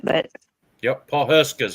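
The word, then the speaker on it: Pawhuska: Paul Husky or I don't know how you say it, but Yep. Paul Huska is how you say it.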